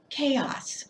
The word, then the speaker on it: chaos: so beautiful so amazing chaos so the CH will pronounce like a sound chaos is absolute disorder